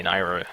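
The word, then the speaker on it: Nayru: Peril or Nair's perel I've been switching between those pronunciations I usually say nairu I like that one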